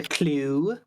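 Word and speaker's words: clew: this is a grommet that's a clue it's spelled c-l-e-w yeah it's [ __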